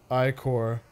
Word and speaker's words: ichor: could fill it with my magical sperm that's pronounced ichor hey we said it right the first time